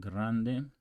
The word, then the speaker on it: grande: game got G Grande actually roll that R but Grande Grande okay so let's